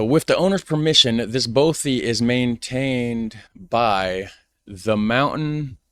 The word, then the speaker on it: bothy: Okay, so I was pronouncing it wrong. Bothy.